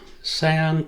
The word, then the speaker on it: cayenne: Cayenne pepper?